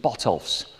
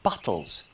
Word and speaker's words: Botolph's: name of the village incidentally phonetic spellings show that the name was formerly pronounced Bots or botles not Botts as we know it today now Helen one of